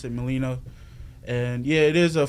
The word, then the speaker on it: Melino: Melino. Gosh, okay. That's how you pronounce it, Melino.